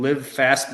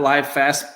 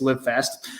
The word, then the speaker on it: Live Fast: So for the team, it's at Team Live Fast, not Live Fast, Live Fast. It's spelled the same though, so it's fine. It's just whatever your hooked on phonics tells you to do. That's what it is. But it's to us, it's Live Fast.